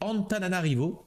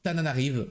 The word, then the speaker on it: Antananarivo: dans la capitale est Antananarivo ou alors Tananarive en fonction de comment vous préférez le prononcer GG Enora pour le